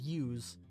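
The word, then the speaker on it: う: This is U, or U. It is the equivalent of the vowel U in English. You pronounce this as U. U is a short vowel.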